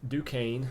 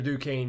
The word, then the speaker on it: Duquesne: 2022 here we go you open up with Duquesne I believe it's how you pronounce it uh so if you're a decaying